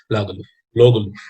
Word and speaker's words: Lagerlöf: Okay, and there are many special things about Selma Lagerlöf, as her name is pronounced. Okay, Lagerlöf.